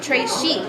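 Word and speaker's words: très chic: it like a bracelet wait you say it like this TR Chic it means very fancy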